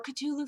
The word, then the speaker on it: Cthulhu: brother is a huge Cthulhu fan or ktulu fan whether you pronounce the th or you just pronounce